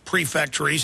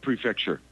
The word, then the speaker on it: prefecture: counties or or regions, preactories. How how do you pronounce them properly? Uh it's prefecture prefecture prefecture prefecture and so if